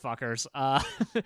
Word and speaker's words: Fcukers: It's just Fuckers. Their new album is called ooh, I think is how it's pronounced.